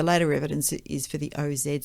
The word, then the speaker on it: Oz: Overwhelmingly, the later evidence is for the OZ spelling, with the final sound pronounced as a Z, yeah.